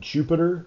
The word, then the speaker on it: Jupyter: prompt and we will type in jupiter which is spelled j-u-p-y-t-e-r space notebook and hit enter that'll